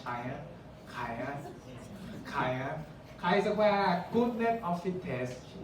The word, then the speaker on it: chi: Pronounce chi, not China.